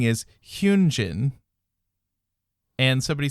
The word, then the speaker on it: Hyunjin: And Hyunjin is what we would Hyunjin with like a ooh sound.